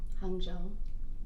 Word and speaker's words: Hangzhou: Hangzhou.